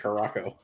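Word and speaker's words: Curaçao: a shot of blue curacao a shot of vodka how do you say curious now we always call it caraco is both it's whatever part of the country you're from what's that it's it's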